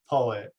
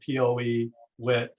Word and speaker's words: PoEWit: slide, but Blake said our company is called PoEWit. Some people pronounce it PoEWit, but either way is fine with us. But we try to come up with a name that kind of rhymes with poetry, poet.